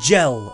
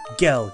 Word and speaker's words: Gil: sorry Gil is gel gel is spelled with a J okay you know gil g i l that's